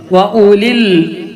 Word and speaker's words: أولي: ആ വാവ് ഉച്ചാരണത്തിൽ കൊണ്ടുവരരുത് എന്നുള്ളതാണ്. വഉലിൽ, വാവില്ലാത്തതുപോലെ വായിക്കാം. വഉലിൽ അംരി മിൻകും, അവിടെ ഇഖ്ഫാ ചെയ്യണം.